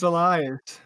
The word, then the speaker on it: Elias: Dude, that's literally how you say it. It's all good. That's too funny. Oh my god. That's too funny. It's Elias.